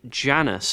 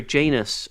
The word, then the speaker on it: Janus: Uh and it's going to be Janice. And I I hope I'm uh Oh, no, sorry, Janus. Um if I pronounce that correctly.